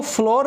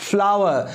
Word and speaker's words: flour: दोस्तों आपने सही सुना, मैंने इसको फ्लोर नहीं बोला। ये फूल वाला जो फ्लावर होता है उसी की तरह इसकी भी प्रोनाउंसिएशन कही जाएगी, क्योंकि FLOUR जिसका मतलब होता है आटा, इसको हम इंग्लिश में सही प्रोनाउंस करते हैं फ्लावर।